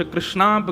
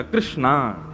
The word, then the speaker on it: कृष्ण: इसीलिए हम कथाओं में कहा करते हैं कि भगवान का नाम उच्चारण करना है तो कृष्ण बोलो, कृष्ण। और यदि द्रौपदी का उच्चारण करना है तो कृष्णा बोलो, अकार आ की मात्रा लगाओ।